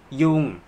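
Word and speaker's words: ยุง: ย โ อ เ ค ยุ ง mosquitoes ยุ ง is a flat tone ยุ ง ยุ ง ยุ ง be careful of pronouncing the word ยุ ง mosquito and ยุ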